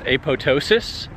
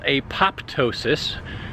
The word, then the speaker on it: apoptosis: Now, you may know autophagy as apoptosis, which is spelled apoptosis with a P. The P is silent, the second P.